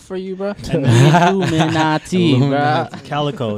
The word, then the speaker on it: Calico: owns is like a life extension project called Calcio. Bro, straight up. That's that rich people stuff, Do you want them to spell it out for you, bro? Illuminati, bro. Calico.